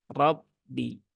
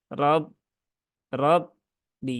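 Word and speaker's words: رَبِّ: R Abba Ya Abba Rabbi Ya bukan RAB rbi tapi Rabbi ya nah jadi dia tidak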